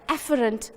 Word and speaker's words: afferent: I say it like how I'm going to pronounce it. Afferent. A comes first. A is the first letter in the alphabet. And the thinner one, efferent. Efferent, E for exiting.